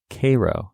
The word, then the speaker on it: Cairo: But in episode 47, we talked about Cairo, Illinois. That's how it's said? It is how it's said. It's spelled Cairo. Super spelled Cairo. But it's not. It's Cairo.